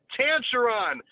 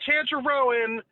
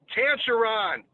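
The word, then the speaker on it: Tancharoen: the name yes tantruron it's tanzaron not chandra rowan not tatra robert van brand tancheron get it right jesus thank you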